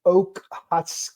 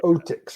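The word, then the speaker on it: Okhotsk: right frigid waters of the sea of Oakhat. It's o k h o ts k. Okay. Yeah, I can't pronounce that either. I know. I know it, but Sea of Otics or something deep deep inside Soviet territorial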